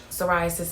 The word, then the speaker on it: psoriasis: Psoriasis, and I forgot the P is silent.